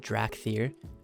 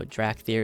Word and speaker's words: Dracthyr: this is pretty huge i think it's pronounced drac theater uh evoker so drak there is the new race